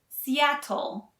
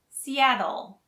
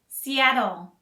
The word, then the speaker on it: Seattle: great music and dining the ts in seattle are pronounced more like a d so we don't say seattle we say seattle seattle seattle visitors to the